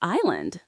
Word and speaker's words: island: Or island. That S is silent.